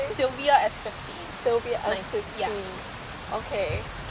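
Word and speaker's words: Silvia: Sylvia S15.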